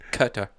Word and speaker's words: Qatar: and Eric who guitar what I say queer quitter you said queer like Quinn Snyder yeah the queen no it's Qatar so I had this